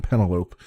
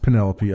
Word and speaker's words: Penelope: And I swear to you, I will probably end up mispronouncing this at some point by saying Penelope, but it's like cantaloupe. But no, it's The Next Penelope, I should say.